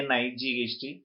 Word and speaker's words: knight: pronounced so for example how will you pronounce k ni ght we pronounce it night whereas during those things